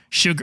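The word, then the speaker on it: Chigurh: This is obviously an extreme because Sjogren, how do you pronounce it? Sugar.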